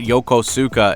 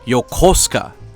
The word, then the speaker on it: Yokosuka: takes place and stuff it's not Yokosuka it's yosa and I'm like [ __